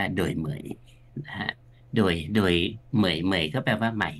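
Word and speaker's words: Đổi mới: เรา ไป อ่าน ภาษา อังกฤษ มัน จะ เป็น ดอย มอย นะ ฮ เอ เพราะ ว่า ตัว แซ มัน หาย ไป ภาษา อังกฤษ แต่ จริง ๆ เ้า เค้า เขียน แบบ ฝรั นะ ครับ ก็ เลย อ่าน ว่า โดย เหมย นะ ฮะ โดย โดย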